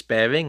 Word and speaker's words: Baring: in question is Morris bearing I think America's normally pronounced the name Maurice but I'm sorry I I can't do that so Morris bearing b a r i n g now the best way